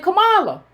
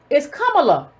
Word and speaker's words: Kamala: I pronounced her name Kamala. It's Kamala.